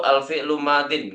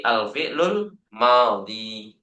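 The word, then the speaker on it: الفعل الماضي: Wala tazkuru alfi'lu madin. Enggak, ya. Tidak diucapkan dengan alfi'lu madin bukan, tapi alfi'lul madhi.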